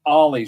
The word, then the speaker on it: Ollie: Pronounced Ollie, short for Alejandro.